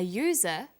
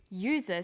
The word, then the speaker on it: user: an umbrella but a user because user sounds like it begins with a y ah and an are